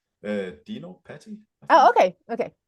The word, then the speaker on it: Dino Patti: Yeah, so how do you pronounce your name? Dino Patti, I Oh, think.